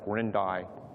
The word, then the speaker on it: Quirindi: That's how that's pronounced, Quirindi.